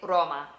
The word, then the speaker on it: Roma: So growing up, I would say Roma, Roma. Now we would say Roma. Do you hear that difference? Rana. Rana. Frog means frog. Rana. We're doing that quick flip of the tongue to pronounce the R.